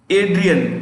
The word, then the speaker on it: Adrian: g e r h a r d gerhard adrian ad ri a n a d r i